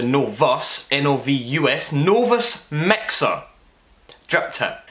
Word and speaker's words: Novus: pre-recording 5 minutes ago, I called it the fucking Nova drip tip, and it's not. It's called the Novus, N-O-V-U-S, Novus Mixer drip tip.